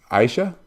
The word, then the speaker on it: Aisyah: attention all right so is your name pronounced Ayesha yes with an SH cell like ice yes beautiful and to